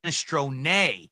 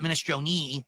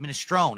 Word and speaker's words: minestrone: Not minestrone, it's minestrone. But in American or English, you pronounce it minestrone. It's a silent E, just like provolone.